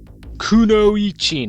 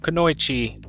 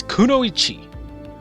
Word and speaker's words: kunoichi: it all right everyone so R Kuno Chi kunoichi not kooi not kooi pronounce it right you filthy slack jaw it it's kunoichi is going to be named Mo mochizuki Chi